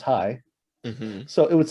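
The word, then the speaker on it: chai: that just said so c-h-a-i in hebrew is pronounced high so it would say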